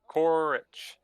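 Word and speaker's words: Korrich: is uh courage urge the cowardly dog no korich k-o-r-r-i-c-h 4-h yeah nice to meet you korich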